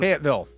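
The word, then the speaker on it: Fayetteville: Fet uh Fet uh how do you pronounce it? Fatville. Fateville North Carolina is number three.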